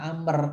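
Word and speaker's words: عمرو: itu kata Amr itu kalau ada waunya dibaca Amr kalau nggak ada baunya dibaca Umar kalau ada wawunya dibaca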